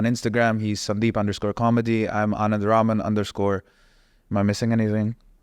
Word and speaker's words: Anand: to get so upset but he keeps saying my name is ananas which is not it's not a pineapple so so one last